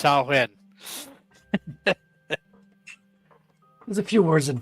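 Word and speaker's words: Samhain: It's spelled Samhei, but it's pronounced sawen.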